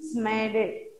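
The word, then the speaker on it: Psammead: P is silent, children. Smaded. Smaded. Smaded.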